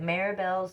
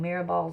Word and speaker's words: Mirabal: you are releasing okay it's no coincidence that maribel's name sounds like mirror ball I guess I said it wrong mirabal's name sounds like mirror